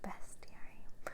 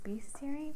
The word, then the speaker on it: bestiary: labyrinth video, I have found out now that it is pronounced bestiary. So thank you for letting me know in the comments, because I really did think it was bestiary, but I wasn't sure.